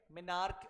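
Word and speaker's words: menarche: क्या दो टर्म है मिनार्क ठीक है मिनार्क इज हाउ you pronounce the first term Mainak का मतलब होता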